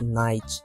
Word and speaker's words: knight: Another common word that doesn’t make any sense is "knight". Besides the silent “K,” as I mentioned before, the “GH” here just disappears because the ending has a “T” sound.